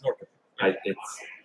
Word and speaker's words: Norrköping: Yes, it's Norrköping. It's the O with the dots over it. It might not be coping. There might be some other little twist to it.